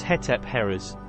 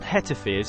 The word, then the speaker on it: Hetepheres: Firstly, her name pronounced in hieroglyphics as Hetep-herres, not Hetep-herres as some people pronounce it in YouTube videos, articles or books.